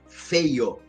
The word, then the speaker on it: Feyo: dizer meu sobrenome pessoal é feio f e y o é feio mesmo se pronuncia feio e tal então assim